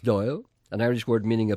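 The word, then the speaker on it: Dáil: in Ireland the Dublin Parliament is called the Doyle pronounced Doyle and Irish word meaning a place where bankers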